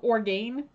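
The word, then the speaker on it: Orgain: fed away organ okay it's spelled like o r and then gain so or gain it's simple tasty protein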